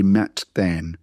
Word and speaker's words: Matthan: It's a double th. Don't pronounce it with the first T being silent like Matthew. The name Matthew. We would say Mattthan. So it's different from our Matthew name.